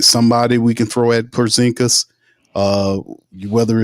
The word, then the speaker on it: Porzingis: how the hell Micah Peavey is guarding uh Pazinski. Wait, did I say his name right? Uh, talking about the the the unicorn. They gave him the nickname unicorn. Porzingis. Porzingis.